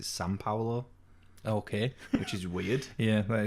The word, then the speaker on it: São Paulo: Yeah, that's the language like that's weird because like in Brazil, the capital city is how we would pronounce it, Sao Paulo, but it's there's an M. They pronounce it São Paulo.